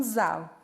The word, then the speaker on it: Zahl: Lá na Alemanha, número se pronuncia como Zahl.